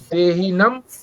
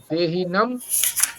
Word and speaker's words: देहिनम्: जो पहला शब्द है निबध्नन्ति, निबध्नन्ति, और दूसरा देहीनम अव्ययम, देहीनम अव्ययम, अवयव नहीं है। पाठ करेंगे अभी। कृष्ण जी पाठ करिए पांचवे का, पांचवा श्लोक। निबन्धन्ति निबन्धन्ति सत्वं रजतमे इति गुण प्रकृति संभव निवृत्ति महाभाव देहे देहिनम अभयम।